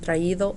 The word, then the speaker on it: traído: So if you noticed, we have an accent on the I, leído, read, and traído, brought. So what I want you